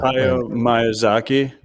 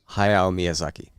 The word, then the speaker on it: Hayao Miyazaki: Hayao Miyazaki. I don't know if I pronounced that right. Hayao Miyazaki. Like say it again. I did pretty good. Say it again, Logan, so everybody can. Hayao Miyazaki.